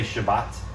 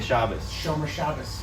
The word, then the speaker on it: Shabbat: right yep or uh we say shabbat right shabbat like today's is shabbat what sabbath they say shabbos yep it's like this